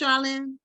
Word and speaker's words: Sharlyne: cat yeah so welcome now your name is pronounced Charlene Charlene Darlene okay yeah it could be either